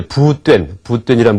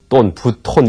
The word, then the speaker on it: 부뚠: 이분은 이제 부뚠이란 분인데, 보통 이제 여러분 개론서에 보면은 부톤 이렇게 나올 겁니다. 근데 원래 그 발음하는 그 방법이 부뚠 해야지 맞기를 하죠.